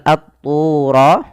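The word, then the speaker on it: الطُّور: Kemudian pelafal at-tura, di sini ada alif lam. Kita namakan alif lamnya alif lam syamsiyah, yaitu alif lam yang kita tuliskan tapi lamnya tidak dibaca, sehingga huruf lamnya diidghamkan ke huruf ta, sehingga ta-nya berharakat tasydid.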